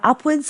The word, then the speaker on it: upwards: There are upwards of 5,000 different bush food plants. Upwards of here means more than or greater than. When it's a suffix, wards is pronounced woods.